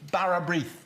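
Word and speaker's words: bara brith: Barrabrith. Barrabrith, yeah, speckled bread. Speckled bread. Yeah.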